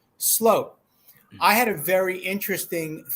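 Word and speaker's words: Sloot: may get the truth out of Mr Vander Sloat and I learned something new every day and today I learned it is pronounced slope I had a very interesting Theory um that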